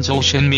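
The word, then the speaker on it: 周炫美: 대부분 알고 있는 사실이지요 주현미의 중국어 발음은 저우 쉔 매 입니다 주현미 아버지 죽음 분은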